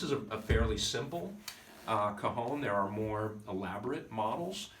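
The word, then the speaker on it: cajón: to you and this instrument is called a cajon and it's spelled c-a-j-o-n cajon and it is essentially a box a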